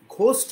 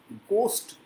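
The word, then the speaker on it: ghost: ঘোস্ট নয় ঘোস্ট ঘোস্ট এইচ টা উচ্চারণ হয় না হি রোট many গোস্ট stories and he also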